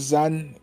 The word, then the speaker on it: Zan: Um, Zan as in Thank you, Z-A-N. Chris. Not complicated, but I have seen a couple people mispronounce it somehow.